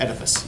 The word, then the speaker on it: Oedipus: Oedipus, yep.